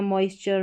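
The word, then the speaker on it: moisture: मॉइस्चर मिक्सचर यह हो गया रैप्चर फिर यहां पर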